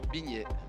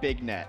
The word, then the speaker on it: Vignette: Vignette. Okay, so it's not Big Net, because that's how I'd say it in the Midwest.